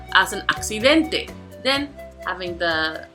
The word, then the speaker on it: accidente: Next, accidente. This time there are four syllables, so then it's going to have the prosodic accent. Accidente.